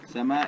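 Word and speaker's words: Zama: The original name was Sama. Sama, it's spelled Z-A-M-A, Z-A-M-A, and that means dawn, sunrise.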